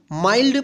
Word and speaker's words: mild: इसको ध्यान रखिएगा, देखिए इसमें एन नहीं है फिर भी इसको माइल्ड पढ़ेंगे, इसको मिल्ड नहीं पढ़ेंगे, ठीक है ना।